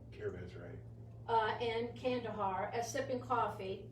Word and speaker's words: caravanserai: Caravansier? Caravanserai.